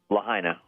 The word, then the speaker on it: Lahaina: the name of the town how is it pronounced that was destroyed Lahaina yeah Lahaina um I I still can't get